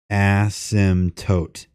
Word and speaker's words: asymptote: asymptote it's not asked the P is silent so it's like asymptotes